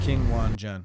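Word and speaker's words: Qinwen Zheng: I say her name so wrong. I'm sorry. Hello, my name is King Wan Zhen. King Wang Zhen. King Wan Zhen. King Wan Zhen, she says.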